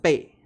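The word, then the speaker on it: 背: Okay, this word is pronounced "bei," but it doesn't mean you should memorize it.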